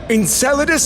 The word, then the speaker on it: Enceladus: Hello, moon whose name sounds like salad in Spanish. Hey, Enceladus sounds nothing like Okay, it kind of does.